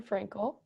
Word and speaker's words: Frankl: reading called Man's Search for Meaning by Viktor Frankl. Is that how you pronounce his last name? I think so. I mean, Okay, at least in my head, awesome. Viktor Frankl.